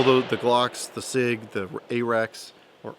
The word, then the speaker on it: AREX: Glocks, the SIG, the AREX, or RX, depending on how you say it. I've heard them say it at SHOT Shows RX, so maybe I've been mispronouncing it.